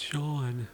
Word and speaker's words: Sean: Guys, it's not Scene, it's Sean.